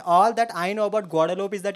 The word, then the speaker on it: Guadeloupe: And all that I know about Guadeloupe is that it rhymes with Laudelope.